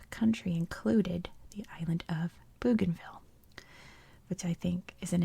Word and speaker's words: Bougainville: So Bougainville is a victim of that. It's supposed to be Bougainville, but it's now Bougainville Island because it's British.